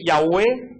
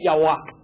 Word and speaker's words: Yahweh: Entonces, descarten la palabra Jehová, porque ningún judío puede pronunciar la palabra Jehová. Así que esa palabra está totalmente descartada. Lo que más cercano que pudo haber llegado a sonar es Yahweh.